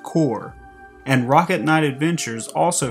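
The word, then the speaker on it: Corps: the Sega Genesis, and yes, it's pronounced Core, and Rocket Knight Adventures also for the Sega Genesis.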